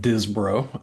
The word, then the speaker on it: Disbrow: It's a family and nickname cuz the last name's pronounced Dizbro.